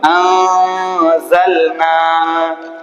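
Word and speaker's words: أنزلنا: যে নুন সাকিনের পরে হরফে হালকের 6 হরফ বাদ দিয়ে কোনো একটা যদি হরফ আসে তাহলে এখানে কি হবে? কি হবে? ইকফা। ঠিক আছে, তাহলে উচ্চারণ কি হলো? আনজালনা। আগে দেখেন, ইয়া ইয়া কি জন্য পড়ছি দেখেন নুন সাকিন এসেছে, নুন সাকিনের পরে হরফে ইকফার 15 হরফ থেকে কি এসেছে জ এসেছে, কি এসেছে জ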